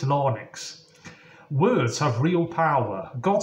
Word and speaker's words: larynx: passing through our larynx or logs is that how you pronounce it it's l-a-r-y-n-x I think it's lonix words have real power